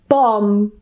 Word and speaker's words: bomb: it's in the middle, the B at the end is silent and we just pronounce the M. So we just pronounce and that's it. For example, bomb, climb.